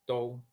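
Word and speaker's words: 都: Quizás esta sílaba les cueste pronunciarla porque en español no tenemos muchas palabras que sean la unión de vocal o u.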